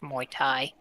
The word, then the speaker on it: Muay Thai: technically what it's called actually it's pronounced Muay Thai oh I'm sorry my